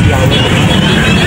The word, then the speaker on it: Yah: mismo sa aklat nila the more correct way to pronounce god's name is yah at ang dapat nating